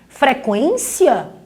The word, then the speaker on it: frequência: Frequência continua com a pronúncia do U. Linguiça, continuamos pronunciando o U.